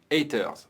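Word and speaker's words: H8RZ: american dreams ou bien h8r z qu'on prononce heiter les acteurs par le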